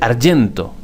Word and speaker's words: argento: Por ejemplo, en italiano, plata se dice argento con G, porque la G la pronuncian como la Y en español.